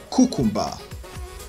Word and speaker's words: cucumber: is capitalism capitalism capitalism number five cucumber cucumber cucumber that's a nigerian pronunciation but the standard pronunciation for that word is cucumber cucumber cucumber for practice sake